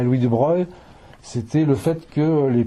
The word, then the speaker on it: de Broglie: Donc ça s'écrit de Broglie, mais c'est de Broglie, Bohm.